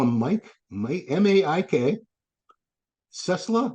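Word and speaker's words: Ciesla: him Mike Mike m-a-i-k cessla like Tesla but it's c-i-e-s-l-a uh I don't know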